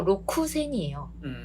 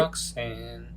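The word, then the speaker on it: 六千: 이거 로쿠센이에요. 근데 록센. 에? 네. 그래서 로쿠센인데 록센이라고 발음을 하죠.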